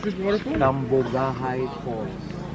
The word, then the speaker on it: Cambugahay: How do I pronounce this waterfall? Cambugahay Falls. Cambugahay Falls.